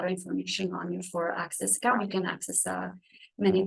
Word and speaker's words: ACSIS: So as you see on the screen, it's spelled ACSIS, and we call it Access.